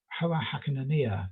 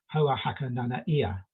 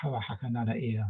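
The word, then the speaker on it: Hoa Hakananai'a: from Rapa Nui officials, he should be called Hoa Hakananaea. So Hoa Hakananaea, to try and remember to pronounce it correctly.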